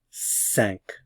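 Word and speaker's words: cinq: uh D D D D D D K sank again this is nasalized and sank sank sank this can be pronounced one of three ways if it's just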